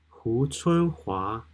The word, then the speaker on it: Hu Chunhua: Hu Chunhua. Hu Chunhua.